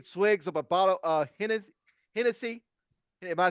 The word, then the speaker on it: Hennessy: Uh I think this was at Detroit uh uh taking swigs of a bottle of Hennessy.